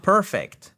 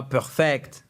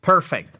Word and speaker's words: perfect: Vous dites Sorry, my English is not perfect et pas perfect, perfect, accent tonique sur la première syllabe.